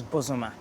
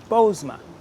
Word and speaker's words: Bozoma: the western region is bosuma yeah but the anglicized version because i don't want people to mess it up is just bozeman the long o two syllables right don't mess it